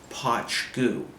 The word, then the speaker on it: Poit Dhubh: from the Isle of Skye and it's called posh goo and it's spelled p oh aitee then the next word